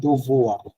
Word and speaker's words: devoir: দোভোয়া, আর আর লাগবে না, দোভোয়া, এটুকু হয় জাস্ট Devoir, দোভোয়া, devoir, ওই আরটাকে গলার মধ্যে রেখে দিতে হবে, দোভোয়া, শেষ, devoir.